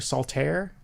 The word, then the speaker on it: Saltair: how to pronounce it, Salt Air or Saltaire. It's Salt AIR, all one word.